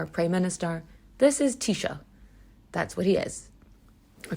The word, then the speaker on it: Taoiseach: a president or a prime minister this is Tisha that's what he is or Tisha I should say some people pronounce it t-shock but uh I don't do that cuz that's